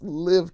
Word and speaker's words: Live Tinted: It's live tinted because it's supposed to be like give, not live. It's live.